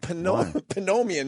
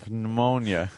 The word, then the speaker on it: pneumonia: But I thought how about we had how about we have fun with the fact that some words have the dump P in front of them.